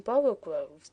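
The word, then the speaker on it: borogoves: Again, the first o in borrow groves is pronounced like the o in borrow.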